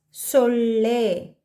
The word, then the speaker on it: ಸೊಳ್ಳೆ: Mosquito is solle. Solle. Again ottakshara, sajati ottakshara, because la is adding to la, l, a, le.